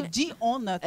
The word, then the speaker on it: Dionathan: Jonathan, tipo, Não é com J, Jonathan. É Dionathan. É Dion.